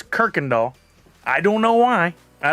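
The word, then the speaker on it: Kuykendahl: l it looks like qu Kendall but it's pronounced Kirkendall and you can always tell somebody that's not from Houston when they when they're interviewed and they go oh I was over on K doll no it's Kirk and doll I don't know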